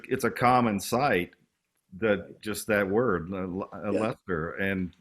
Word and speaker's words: Leicester: And I passed a sign that said Leicester, but it was like, as many interviewers have said, what gave you the idea for the Earls of Leicester?